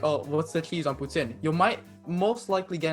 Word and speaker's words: poutine: you might pronounce it poutine but okay i've heard what is after i've i've never had it so uh putin is first off how we pronounce it i know right each